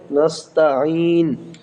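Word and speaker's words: نَسْتَعِينُ: ইয়া ওয়া ইয়া কাফ জবর ইয়াকা ওয়া ইয়াকা নাসতাাইন নাসতা নুন সিন জবর নাস তা জবর তা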